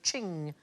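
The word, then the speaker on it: Qing: will get there eventually it rhymes with bling thing thing I like thing most expensive Chinese item ever sold at auction is a Ching vars it went for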